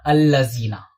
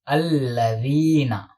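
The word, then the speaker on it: الَّذِينَ: And this is not allazina. This is alladhina. Alladhina, not allazina.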